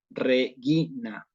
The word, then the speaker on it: regina: no se cumple eso y aquí se dice regina. ¿Sí? Lo interesante acá es esta parte, G-U-E-I, regina. Esto es la pronunciación, ¿sí?